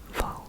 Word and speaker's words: Wall: It's spelled like W A L L, but it's pronounced V.